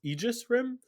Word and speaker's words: Aegis Rim: to my embarrassment uh i realized that it's pronounced aegis rim because i've been saying it embarrassingly wrong for